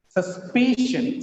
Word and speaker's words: suspicion: Suspicion, suspicion, second from last is stressed.